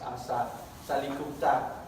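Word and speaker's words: อาสา ศาลิคุปต: It's Asa Salikupta.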